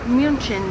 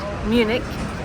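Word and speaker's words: München: Guru walk welcome to Munich Germany locally it's pronounced munin not Munich and it means the city of the monks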